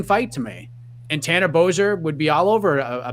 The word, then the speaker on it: Bozer: Bozer?